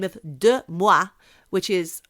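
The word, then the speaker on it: DeuxMoi: after an instagram account by the name of de moi which is spelt d-e-u-x-m-o-i they shared posts claiming that a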